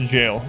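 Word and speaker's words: gaol: heard it pronounced so it is still pronounced jail all right I knew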